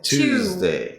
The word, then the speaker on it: Tuesday: Monday, Tuesday, you start with Tuesday. two. That would be like Do you do the Z sound? Tuesday, yeah, the Z.